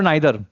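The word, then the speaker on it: neither: अब यहां पर आपको बताना है नीदर और नाइदर, ठीक है, बोथ प्रोनाउंसिएशन आर राइट, ठीक है।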